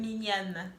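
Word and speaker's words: Mignonnes: How do you say it? Mignon. Yeah, exactly. It sounds way better when you say it.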